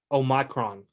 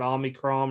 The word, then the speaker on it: Omicron: honestly with this new they've now pronounced i learned it's greek oh micron that's the new covet oh micron it's how it's pronounced it's greek it's not omicron or whatever they were calling so micron the emphasis is not on the oh it's on the my just so you know